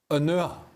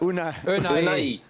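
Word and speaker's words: Ounahi: Now, my pronunciation here might not be perfect, but Unua, number 8 from Morocco. Nadim Unua? No. Jules, help me out. Help me out. Unai.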